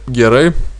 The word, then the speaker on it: gerai: Ну, теперь герей, ударение в конце слова герей.